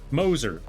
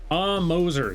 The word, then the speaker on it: Moser: Pronounced Moser. Moser.